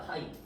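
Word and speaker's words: φ: 파이 뭔가 이상하지 않니? 여러분, 여러분이 아는 파이는 뭐야? 이거지? 네. 맞지? 근데 어 그리스에서 이거야. 중요치 않아. 그냥 잡다이야. 이거는 얘는 pi야. 그런데 발음은 파이야.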